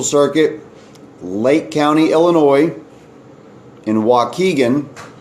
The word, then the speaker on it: Waukegan: lake county illinois in waukegan it's spelled wau ke gan waukegan illinois january twentieth 9am